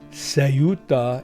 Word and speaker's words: Ceuta: If you haven't been in a dark hole watching AI videos, you know that Ceuta, or Sayuta, as my daughter tells me is the correct pronunciation, has been a hot topic these past few days.